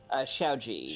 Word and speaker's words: Xiao Ji: Xiaoji. Xiaoji. Yes. Type that out. Technically, I'm not- Xiaoji. Yeah. Ji. Ciao. Xiao Ji. Xiaoji. Ciao.